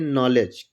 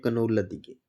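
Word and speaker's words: knowledge: जैसे KNOWLEDG, तो इसको क्या पढ़ेंगे? नॉलेज। आपने देखा होगा मजाक मस्ती में या बहुत लोग इसको पढ़ भी नहीं पाते हैं तो पढ़ते हैं कनौलद की।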